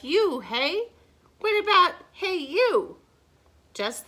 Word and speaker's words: Unhei: no no unheir corrected it's spelled u-n-h-e-i it's pronounced oh it's you hey said the boy like you hey what about hey you